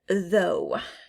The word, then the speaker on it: though: the next word is though though um i don't hear the gh so put it with the silent gh next is rhyme rhyme